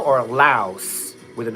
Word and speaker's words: Lao: Help me with the pronunciation of Lao. Is it Lao silent s or louse with the s at the end? Because I hear them saying loud with the silent. So, is it Lao or Laos with an S?